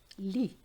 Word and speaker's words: lit: Lit. Bed. Have you noticed the Z and the T were not pronounced?